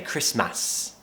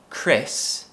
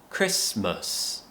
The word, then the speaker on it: Christmas: I hear lots of my students say Christmas. Remember there's a schwa sound at the end. Chris-mus. Christmas.